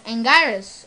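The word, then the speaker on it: Anguirus: him as well as angeirus or and we rules whatever you want to pronounce it but i like pronouncing it angers i don't know why i just like pronouncing it like that um so yeah both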